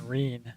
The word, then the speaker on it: Marin: of Miku well that's not exactly the right Marin Marine this is actually Marin so three SSR